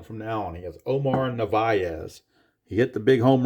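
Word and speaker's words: Omar Narváez: that guy's name, and the announcers called him Omar Narvaez. So that's what I will call him from now on. He is Omar Narvaez.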